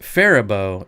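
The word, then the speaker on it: Faribault: even that's a pain to get into it's pronounced fibo it's the south of it's south of Twin Cities about an hour fibo okay fibo fibo beard looks good all right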